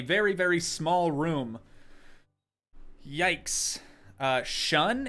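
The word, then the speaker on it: Shaan: Shun is how it's pronounced? Is it? How is it spelled? Now I have to go back and look. It was S-H-A-A-N. That's pronounced shun.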